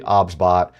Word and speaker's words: OBSBOT: The pronunciation of the product is actually OBSBot. It is not OBSBot.